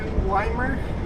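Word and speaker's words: Ymir: interesting name why weimer i spell weimer why m ir i didn't know how to pronounce it like until i heard someone just say it limer okay simple as that huh town oh because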